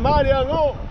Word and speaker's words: Marion: Marion, yo tengo una casita en Marion. That's the proper pronunciation.